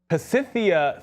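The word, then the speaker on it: Pasithea: It's because it's not Kex and Auto. It's Pacitia Therapeutics. Is the name of the company, and they're going to be towards the bottom of the watch list.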